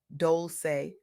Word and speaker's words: Dolce: I'm Dolce, pronounced Dolce, like sweet softness whispered in French.